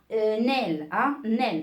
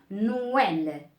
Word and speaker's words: Noël: On ne dit pas nel, hein, nel, non. Donc, on marque no tout d'abord, on marque no, d'accord? On dit no. Par la suite, well, hein, Noël, d'accord?